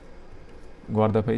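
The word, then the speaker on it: Guardafui: इसकी स्पेलिंग आपको बतानी थी ना, स्पेलिंग देख लो बेटा, इसका स्पेलिंग है गोआरदफई चैनल, ग्वारदफई चैनल जो है इसकी स्पेलिंग ये है ठीक है, फुई होता है, फुई, ग्वारदफुई।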